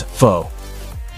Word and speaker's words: faux: This word, which means not real or genuine, looks like it should rhyme with fox, the animal. When pronounced, faux is an adjective of French origin that means false or artificial. The word is pronounced as faux.